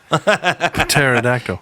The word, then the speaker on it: pterodactyl: know I give up because the P is silent pterodactyl yes yes all right